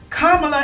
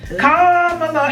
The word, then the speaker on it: Kamala: in a fair manner kamla Harris 2024 ah W you say it wrong every time comma Harris and WS 2024 woo